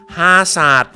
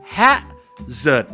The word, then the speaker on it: hazard: ความ อันตราย ระดับ สูง ชาว ไทย ออก เสียง อะไร นะ ครับ ฮา สาด ก็ อุ้ย ตลก มาก หรือ ไง ครับ Hazard เนี่ย ไม่ หา สาด มึง ไม่ ใช่ นะ ฮะ ก็ เหมือน ว่า ฮา สาด ก็ ออก เสียง อะไร นะ ครับ แคะ เสริด นั้น เอง ครับ ถ้า Sir aod